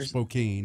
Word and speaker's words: Spokane: the town right there Spokane its Spokane look at the way it's spelled that's Kane they have a merry-go-round